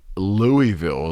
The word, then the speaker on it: Louisville: from baton rouge wow louisville louisville louisville louisville louisville it's like one syllable louisville louisville one and a half one and a half